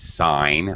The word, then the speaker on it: sign: sign in which case when we pronounce it the g is silent it's sign i saw a sign